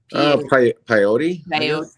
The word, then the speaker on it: Paiute: Paiute tribe. Did I pronounce that right? I'm not sure. Peyote.